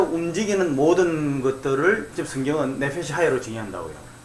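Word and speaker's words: נפש חיה: 그 생물이라는 단어가 네펫이 하야예요. 그 제가 말씀드렸죠. 네펫이 하야라고 되어 있는, 그러니까 이거 또 독일어식으로 말하면 이히 할 때 그 CH 발음 있잖아요. 그거 발음이 발음 나는 거죠.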